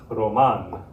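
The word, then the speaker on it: Román: your tongue should trill if the r is at the beginning of a word like in the name roman roman it's going to make this sound roman when it's at the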